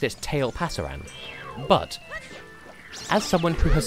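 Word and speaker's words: Tailpasaran: Like, it's the future tense of tail pasar, meaning the tail will go.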